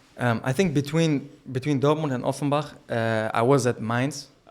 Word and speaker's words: Offenbach: I want to ask about, you most recently played with Kickers Offenbach. Did I pronounce that right? Offenbach.